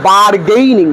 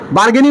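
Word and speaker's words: bargaining: কথাটা বার্গেইনিং, নট বার্গেনিং। তাহলে কি বললাম? যদি উচ্চারণ ঠিক না করতে পারি, আমাদের কিন্তু ইংরেজি ভালো লাগবে না শুনতে, তাহলে বানান ভুল হবে। যেমন কথাটা হচ্ছে বার্গেইনিং, আমরা অধিকাংশ সময় কি বলি? বার্গেনিং।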